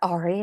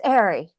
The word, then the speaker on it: Ari: It's like, it's not Ari, it's Ari. Yeah, but it's spelled Ari, so it's so confusing. I always tell people it's like Mary without the M, or I always do